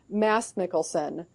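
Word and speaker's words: Mads Mikkelsen: to do the pron the correct pronunciation for his name Mass mikkelson that's according to a Danish friend of mine um and and the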